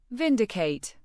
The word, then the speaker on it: vindicate: Vindicate. Pronounce it as vin-di-hkate. Emphasis on the first syllable, v i n.